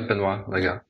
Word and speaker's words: Benoit Legat: There's yourself, Benoit Legat. Is that how you pronounce? Yeah, Benoit Legat.